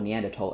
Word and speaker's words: Neanderthal: So would we suddenly say, oh, well, because Europeans have more Neanderthal, and that is how you pronounce it, by the way, it's a German word, they have more Neanderthal